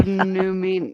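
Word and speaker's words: Númenor: King of Numenor. Numenor. Down at the bottom. It's pronounced exactly how it's spelled.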